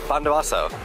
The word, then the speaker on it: Bondowoso: Bondowoso.